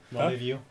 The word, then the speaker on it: rendezvous: They also still have the note of the rendezvous as well, right? Yeah. So we'll see. And Say then that weird. Rendezvous.